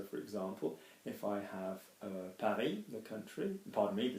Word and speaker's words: Paris: So for example, if I have Paris, the country, pardon me, the city, I'm not going to say Paris, am I, or Paris, like in English.